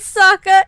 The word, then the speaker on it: Sokka: And being like, my name is Sokka, it rhymes with an aka, young ladies, I rocked you.